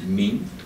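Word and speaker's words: 皿: Chinese will pronounce Min.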